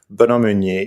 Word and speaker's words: Benoit Meunier: For those who have an Anglo ear like me, it's BenoitMeunier. The terrible Anglo way to pronounce that is Benoit Meunier.